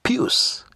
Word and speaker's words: Pius: Yeah, because pious could not help. Now, for those who are not in the know, pious is actually Passaris' husband. Although we Africans pronounce the name Pius.